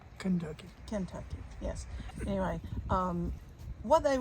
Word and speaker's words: Kentucky: These cane tucks. What they would do is they would take, sorry. For those of you that like correct pronunciation, it was Kentucky.